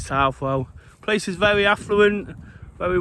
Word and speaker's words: Southwell: mention about Southall, Southwell, I've called it Southall a lot already, is how you pronounce it. Being from where I'm from, I'll probably call it Southall, but lots of people, particularly who live here, will call it Southwell.